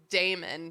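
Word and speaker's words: daemon: I believe they're obviously spelled like they're pronounced Damon.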